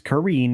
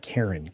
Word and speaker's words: Karine: you do so thanks that's Karine not Karen say it right all right jaffo's here